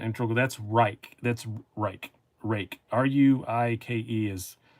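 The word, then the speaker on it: Ruike: Rake. R-U-I-K-E is, people say Reiki and stuff, but it's actually pronounced Rake.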